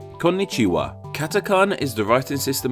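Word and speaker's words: こんにちは: of 5 hiragana characters, the first one being pronounced like ko, the second one being pronounced like n, and so on with ni-chi-wa. Konnichiwa.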